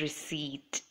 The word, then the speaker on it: receipt: pronunciation is knowledge and in receipt the letter P is silent so the pronunciation is receipt notice how I said